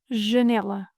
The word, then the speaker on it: janela: Janela, closed A, open E, closed A. Janela, janela, janela.